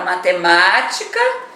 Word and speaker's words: matemática: Sílaba tônica da palavra matemática é uma polissílaba com 5 sílabas. Aí você vê a última é o K, a penúltima é o ti e a antepenúltima é o ma.